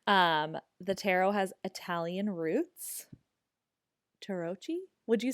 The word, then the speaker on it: Tarocchi: It's Tadoki. Oh, see, so The much better than what C, I said. the CHI is a key sound.